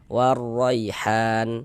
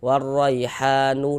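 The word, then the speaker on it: وَالرَّيْحَانُ: harokat fathah, maka huruf ya sukunnya adalah huruf lin. Maka kita baca lunak lembut. Warraihan, han dibaca panjang. Ini kalau misalkan kita tidak berwakaf, tidak berhenti di huruf nun, kita baca, kita wasolkan gitu ya. Warraihanu dan seterusnya kita baca. Maka ha tetaplah menjadi mad tabi'i dan dibaca dengan panjang 2 harokat.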